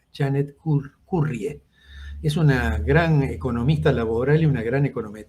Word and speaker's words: Janet Currie: card y ese es y se pronuncia este nombre es de es canadiense escurra y se escribe janet currie es una gran economista